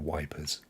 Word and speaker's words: Ypres: And we used the British soldiers, they used to call it wipers because it's spelled YPRES, and but that's featured in the game, so that was really quite interesting.